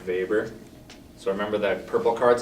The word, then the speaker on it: Weber: main guy for bureaucracies that's vapor but it's w spelled with a w but weber so remember that purple